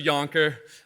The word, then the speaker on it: Yankher: telling you it's true it would be way way funnier if the name was uh pronounced yanker because then i wouldn't take away the headline of everybody saying like yanking my chain and all that stuff but it's actually yonker i hate to take that away from you but it is yonker uh you can pronounce